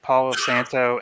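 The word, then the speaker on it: Palo Santo: is that how you say it correctly yes Paulo Santo and um vanilla custard blend and it was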